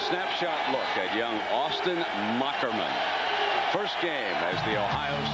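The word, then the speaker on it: Moherman: he explained to us that's old German where the H is a k six three 215 pounds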